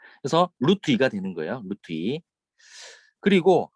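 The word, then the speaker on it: √2: 왜 제가 따라 어, 하라고 하냐면 2루트라고 읽는 아이들이 많아요. 되게 팁인데. 저 2루트가 아니라 이거 읽을 때 루트예요. 루트 2.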